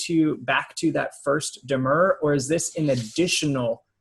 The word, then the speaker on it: demurrer: procedural history here okay um because of this demur hearing um am i pronouncing that right yes okay um uh so